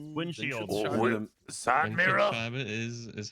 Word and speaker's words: Windschutzscheibe: Windschutzscheibe is how you say it, yes. It, How you it say what? is, No, but this like word, older, it's older. Windschutzscheibe.